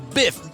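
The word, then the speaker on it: Biph: This is Biff. B-I-P-H is the way you spell it.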